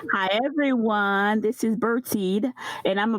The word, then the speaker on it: Bertide: and blt that's right hi everyone this is bertied and i'ma pronounce my name like we do from the